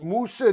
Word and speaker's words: Musa: Musa's a guy I've never heard of. Now I know how his name is pronounced.